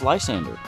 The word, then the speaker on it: Lysandre: So, but yeah, Lysandre is Lysander.